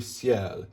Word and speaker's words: ciel: Pierre du ciel. Ciel is one quick consonant, one quick syllable. You glide through it.